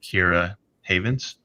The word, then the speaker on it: Keira Havens: of Lights Out for hooking us up with Kira Havens and setting that up for us. Did I Did I just completely butcher the pronunciation of your name?